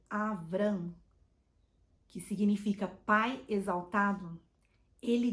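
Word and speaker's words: אברם: de Abraão e sarai Abrão que em hebraico é avram que significa pai exaltado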